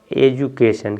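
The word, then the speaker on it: education: यू है ना, तो इसको डी यू से डू नहीं पढ़ेंगे, इसको पढ़ेंगे जू, ए जू के न, एजुकेशन। क्या हो जाएगा ये, एजुकेशन।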